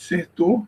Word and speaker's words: Certeau: Michel descer tu eu a pronúncia do nome eu fui eu eu tive como o professor Google Tradutor então ele sempre fala Michel de ser tou bom então o livro